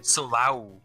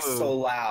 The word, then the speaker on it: Solau: It's Solau. Solau? Okay. That does not look like Solau. That does not look like that either. That's how it's said.